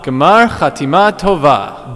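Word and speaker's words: גמר חתימה טובה: Gmar Chatima Tova. One more time. Gmar Chatima Tova. Gmar Chatima Tova.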